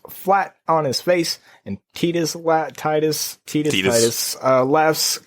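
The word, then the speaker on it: Tidus: pronounce the guy's name it's canonically tetus swear in commercial I swear in the commercial for the game he said Titus I I've heard it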